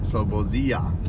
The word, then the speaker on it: Slobozia: Slobozia. Slobozia.